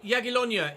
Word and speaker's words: Jagiellonia: Jagiellonia is how you pronounce the name of our opponents for our first ever Polish Ekstraklasa game.